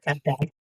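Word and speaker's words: Cap d'Agde: And so, Cap Dag, am I pronouncing it correctly? Yeah. Okay. Cap Dag.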